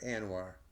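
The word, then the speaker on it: ANWR: Arctic National Wildlife Refuge awr I pronounce it anoir and uh the fact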